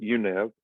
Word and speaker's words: YUNEV: That is how we say it, UNeV.